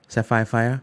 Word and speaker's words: Sefiphiah: I hope I'm pronouncing your name right. Sefiphiah? Yeah.